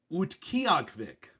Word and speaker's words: Utqiagvik: Utqiagvik. All right, now I'll look at the pronunciation. Oh, relatively close. No, not close. Utqiagvik.